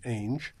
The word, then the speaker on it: Ainge: my uncle, Frederick Engels, who uses the name Ainge, and he would always say rhymes with mange.